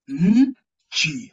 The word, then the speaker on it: nchi: The last one is nchi. So pronounce it 40. Nchi. Nchi. Yeah, so in the last one is where you pronounce the letter N properly.